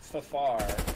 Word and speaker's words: FFAR: what i'm using but i hate it it's pronounced faffar i say from moss everyone's using the ak